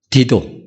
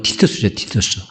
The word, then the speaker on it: 티투스: 예수님이 예언하신 대로 AD 70년에 로마 군사령관인 디도, 로마 발음으로 티투스죠, 티투스 장군에 의해서 예루살렘이 멸망합니다.